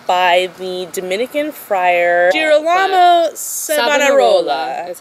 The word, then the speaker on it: Savonarola: And this was all instigated by the Dominican friar Girolamo Savonarola.